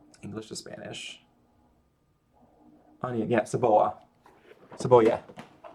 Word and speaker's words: cebolla: Onion, yeah, cebolla. Cebolla. It's not cebolla, it's cebolla. Because the double Y makes a y sound.